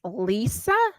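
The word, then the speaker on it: Liza: so the second hour was Lisa but it's spelled Li I Za a Trager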